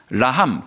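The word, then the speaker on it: רחם: 있는 거예요이 긍휼이란 단어는 히브리어로이 극이라는 단어는 라함이라는 그 히브리 발음을 가지고 있어요 라함 극 제가 오늘 끝날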